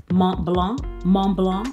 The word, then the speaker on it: Montblanc: try mom belong mom belong i'm trying to get the accent montblanc because the t's you don't pronounce the tnc mom belong and i